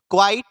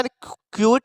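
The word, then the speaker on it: quite: अच्छा प्रोनाउंसिएशन भी पकड़िएगा, prove क्वाइट, ऐसा क्यूट नहीं पड़ेगा, इसको क्यूट नहीं, क्या पड़ेगा? क्वाइट।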